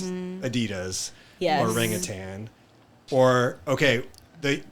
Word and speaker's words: Adidas: in my group was pronouncing Adidas the correct German Way which is I think it's like Adidas oh yeah I